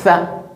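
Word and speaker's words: ث: On vous a dit, il faut placer la langue entre les dents pour bien prononcer cette lettre. On place la langue entre les dents. Le bout de la langue sort un peu.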